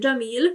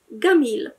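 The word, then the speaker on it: جميل: Dlatego też Jamil, czyli piękny, w Egipcie to będzie Gamil.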